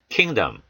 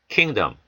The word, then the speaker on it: kingdom: kingdom, kingdom. I의 강사가 옴에 따라 뒤에는 O가 약화됩니다. 모음 약화죠. 그래서 약화되는 모음들은 어에 가까운 소리가 나죠.